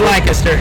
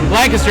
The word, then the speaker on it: Lancaster: It's Lancaster.